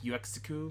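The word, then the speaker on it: Uexküll: It's like UEXKULL. UEXKULL. It's like UXQL or something.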